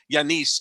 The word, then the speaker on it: Giannis: turning everybody off by saying yanis instead of giannis because that's the correct way to say his name and that's absolutely another